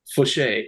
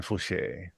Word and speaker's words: Fauché: Fauché, yeah, voucher, but pronounced Frenchly. Fauché.